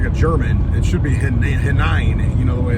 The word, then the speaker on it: Hanine: I always think Heinen. Why do I say Heinen? Because it's kind of like a German. It should be Hinein, you know the way it's spelled.